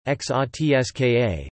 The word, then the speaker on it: Hrvatska: Croatia, listen, Croatian, Croatian, Hrvatska Serbo-Croatian pronunciation, XOTSKA, officially the Republic of Croatia, Croatian, Republika Hrvatska,